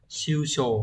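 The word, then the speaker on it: 首相: Đọc là shusho, không có trường âm.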